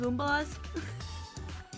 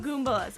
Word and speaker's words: Goombas: Goombalas? Yeah, they're Goombas. Goombas. Okay, I want to make sure I was getting the pronunciation right there.